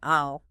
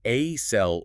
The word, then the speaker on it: aisle: The s is completely silent. You just say I'll. So it's not a cell or is.